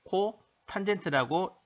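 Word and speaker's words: 코탄젠트: 사인분의 1을 CSC, 코 시컨트라고 읽고 코사인분의 1은 SEC, 시컨트, 탄젠트분의 1은 COT, 코 탄젠트라고 읽습니다.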